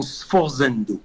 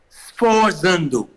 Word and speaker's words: sforzando: Comment des monsieur fait ça en musique, on sforzando. What is this? What is this? Là, par exemple, trompette, tu fais. Oh, okay. How do you call it? How do you call it? Sforzando.